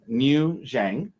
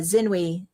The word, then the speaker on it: Xinwei: Uh Ms. uh New Zhang? Uh that would be uh Xinwei. Xinwei. Completely wrong, though, I see.